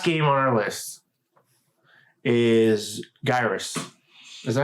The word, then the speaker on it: Gyrus: Assuming that's what the game was called in Japan, it's Gyrus because they don't have a soft G sound.